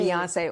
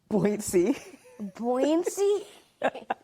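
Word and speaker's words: Beyoncé: message in there Beyonce Beyonce or as your pop pop calls her what boy buy cuz he doesn't say her name right he doesn't say her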